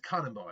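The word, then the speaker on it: Kanabō: I keep saying Kanobo, but it's a Kanabo, I believe.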